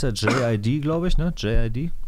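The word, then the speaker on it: JID: J.I.D., der wird der wohl so ausgesprochen, wie er buchstabiert wird.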